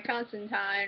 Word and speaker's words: Constantine: Hi, this is my Constantine Rhymes with Fine, Season 1, Episode 12, Angels and the Ministers of Grace reaction video.